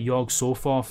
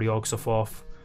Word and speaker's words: Yog-Sothoth: Well, this is about Yog-Sothoth, or Yog-Sothoth, however you want to pronounce it, who's like...